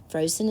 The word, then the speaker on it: frozen: First syllable, fro. O. That's an open syllable, so that's why our vowel is long. O. And then our second syllable is zen. Z-N. Frozen. 2 syllables. One's a open and one's a closed.